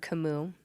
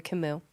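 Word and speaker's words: Camus: But the the the person that helped me the most was the philosopher Albert Kimu. It's spelled Albert Camas. Say Kimu. C A M U S.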